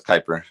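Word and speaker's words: Kuiper: Route data around the world at CER huh hyper is that how do you pronounce that Kyper is a k k u i p e r yeah yeah it's Kyper Kyper belt objects is what Pluto is supposed to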